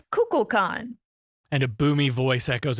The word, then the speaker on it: Kukulkan: Yes, Kukulkan, it's Kukulkan, like nuclear.